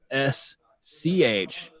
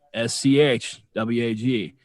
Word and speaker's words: Schwag: It is pronounced swag, and that's a SCHWAG. That's SCHWAG.